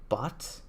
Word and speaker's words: Bacht: Well, spelled Bacht, but they've been pronouncing them Bot without the C.